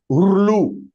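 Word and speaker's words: ऌ: LRU, we can put it, Rlu. L and R to be pronounced together.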